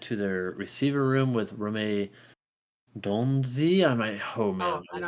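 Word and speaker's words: Rome Odunze: And then the Bears continue to add to their receiver room with Rome Donzi. Oh Oh, man, I know how to pronounce it. Rame Dunze.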